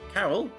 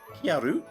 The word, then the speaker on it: Karyl: already been given the transfer student Carol or kyaru whichever way you prefer to pronounce her name and that's what we